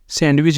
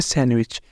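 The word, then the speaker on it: sandwich: जाता है हमारे पास सैंडविच सैंडविच सैंडविच नहीं बोलेंगे इसे बोलेंगे सैंडविच ये कुछ है सेप्शन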